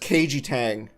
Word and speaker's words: Kaiji Tang: Okay, no, I also did recognize Kaiji Tang. So I did I recognized a couple. KG. It's pronounced Keiji Tang.